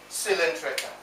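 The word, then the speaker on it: Coelenterata: C-O-E-L-E-N-T-E-R-A-T-A. This is pronounced as Cylindrica.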